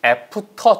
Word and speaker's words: after: 발음이 after 절대 아니에요. F에서 위치아 아랫 입술 안쪽. 이제는 바깥에부터 F 이렇게 훑어오시는 분 안 계시죠? 자, 네, 지금까지 튀기네요. 자, after. R 발음 살리세요.